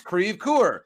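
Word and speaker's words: Creve Coeur: comes the buzzer and it's not creve it's creve coor and so like the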